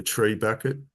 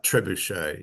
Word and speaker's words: trebuchet: 20 they're using the tree bucket it's the standard sort of catapult of that per period treb ah trebuchet yeah it's my mispronunciation I think it literally